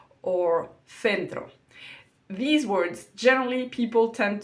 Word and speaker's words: centro: So it's important to know that this th and thi are pronounced like a th in English in all of northern Spain. So it's going to be ciudad and centro.